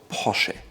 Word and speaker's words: Porsche: It goes all the way from Porsche or Porsche, but in fact, it's called Porsche.